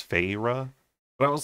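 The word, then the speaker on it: Feyre: And then Fyra, I say Fyra, but it's Fayra.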